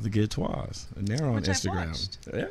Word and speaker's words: Ghetteaux: i spell it okay the way it's spelled is really pronounced git toe but i call it get toi because it's kind of bougie so it's a g-h-e-t-t-e-a-u-x